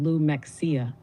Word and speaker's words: Lumxia: Lumxia, pronounced lummexia, meaning the living field of inner light memory that transmits coherent recognition across time.